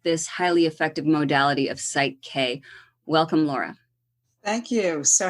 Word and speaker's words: PSYCH-K: to us about what site K is okay so site K and it's spelled for those who don't know it's Psy c-k so psych as in the psyche and it stands for